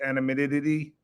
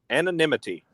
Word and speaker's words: anonymity: Animidity. Animid. How do you say that? Anonymity.